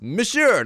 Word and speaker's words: monsieur: by saying monsieur, which, by the way, is also, it's pronounced monsieur, not monsieur, like I was saying.